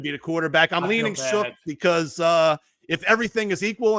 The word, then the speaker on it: Shough: I'm leaning Shook because if everything is equal and they all suck, you might as well go with the young guy.